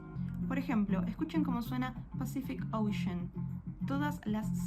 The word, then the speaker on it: Pacific Ocean: Por ejemplo, escuchen cómo suena Pacific Ocean. Todas las Cs suenan diferente. La primera suena como S, la segunda suena como K y la última suena como SH. Pacific Ocean.